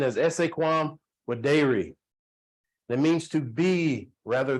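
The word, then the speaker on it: esse quam videri: that I live by and it's pronounced the pronunciation is essay quam with dairy that means to be rather than to seem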